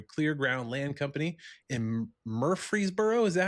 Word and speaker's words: Murfreesboro: He's out running a mulcher and clearing land with his dad through Clear Ground Land Company in Murfreesboro. Is that how you pronounce it? Yes, sir. Tennessee? Murfreesboro, Tennessee.